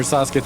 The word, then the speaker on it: Sasuke: It's Sas. It's Sasuk. Oh that was a ton of damage. Sasuki Sakura the beautiful. Have you Have you ever seen the German opening for uh the German opening of uh Nar? That shit's so bad. Yeah, I'm I'm from my ninja clan. Ninja clan. Here I stand. Sasuk is really cool. Sakura the beautiful. I think they say Sasuk actually.